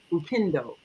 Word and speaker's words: upendo: And Maika, you were mentioning the Swahili word for love, which is upendo, upendo, and that is the Swahili word for love.